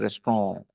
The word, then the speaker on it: restaurant: Okay, anyways, restaurant, it's a French word and it is pronounced like in French it is pronounced restaurant. Okay, T is silent. There are lots of words like this in French which end with nt and they don't pronounce the t.